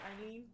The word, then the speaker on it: Eileen: but You know, like in different parts of Ireland, they pronounce that name differently. really? Yeah, like the emphasis is on a different. The emphasis is on a different syllable. Like Eileen.